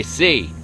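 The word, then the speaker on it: sí: And also, if you want to say yes, you just say C, but it's not like S-E-E-C. Sounds like it, but it's spelled different, and I think it's S-I.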